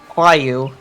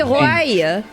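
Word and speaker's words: Roaille: Yeah, they pronounce it Wyu. Wyu. I hate it. I hate her name so much. Is it Welsh? Is it Welsh pronunciation? No, it's supposed to be French. It's just bad. That's not how you would pronounce it. I know. That would be Roy. Roy. I know. It's wrong. But blame Raubon's voice actor who did not get the correct voice direction pronunciation for her name.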